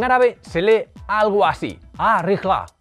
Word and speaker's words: Al Rihla: se lee algo así a rija esa l es muda la H es una j aspirada y hay una sílaba tónica en el la Así que leeríamos a